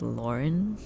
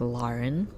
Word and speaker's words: Lauren: but basically my name, a lot of people pronounce it as Lauren, and I think that's how it's typically said, by Americans, by, people who natively speak English and all that. But the way my parents pronounce it, and, the way I was named, it's pronounced Lauren. So instead of the lore part, it's Lar.